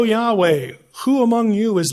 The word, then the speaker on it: Yahweh: When you refer to that person, pronunciation is Yahweh.